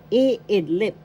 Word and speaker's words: iidlip: ng kataga halimbawa example iidlip eidlip going to sleep first syllable e second syllable id third syllable lip the first syllable has the accent.